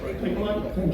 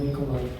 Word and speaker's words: Bakelite: So I'm going to ask you guys Pronunciation is fake. Bakelite? What's that? Plastic stuff. Bakelite? Bakelite.